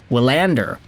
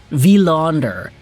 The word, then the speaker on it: Willander: Wanderer. Willander. Wanderer. No, it's a V. V. Technically not V. not a wi vaunder.